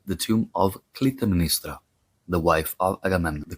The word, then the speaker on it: Clytemnestra: In English, the name is pronounced Clytemnestra. Clytemnestra.